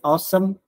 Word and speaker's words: OSEMN: The other framework is they call it awesome. It's like a pronunciation, but it's OSEMN.